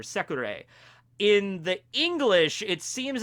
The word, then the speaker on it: Secre: So, I went back to get her name pronunciation, and in the Japanese, it seems to be very clearly, like, Secre, or Sekure.